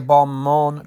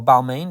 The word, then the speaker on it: Balmain: crack in the handle these are bomb on trousers or balmain depending how you say it it should be bomb on but i'm just saying